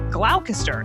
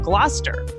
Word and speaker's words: Gloucester: Like originally, I said glalcaster instead of Gloucester.